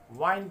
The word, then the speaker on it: wind: इसके pronunciations विंड भी है और वाइंड भी है। विंड नाउन है, हवा, और वाइंड वर्ब है।